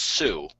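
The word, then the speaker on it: Tsū: yeah, apparently it's pronounced Sue. Okay. I guess with a silent T.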